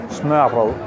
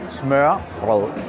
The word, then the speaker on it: smørrebrød: Eso se pronuncia smørrebrød. Nuevamente, smørrebrød, lo que significa pan untado.